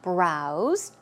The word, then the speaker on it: browse: It's a Z sound as you see. Browse.